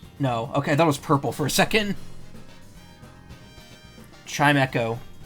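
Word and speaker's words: Chimecho: Chime Echo. Because it's the E gets used twice. Because it makes the I a long I sound, and it gets used in Echo. So I thought it was always Chimichow, or Chimicho. My dumbass didn't realize it's supposed to be Echo.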